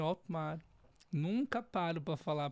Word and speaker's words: Hottmar: Meu nome é Otmar. Nunca paro para falar a pronúncia, senão eu nunca vou parar de falar.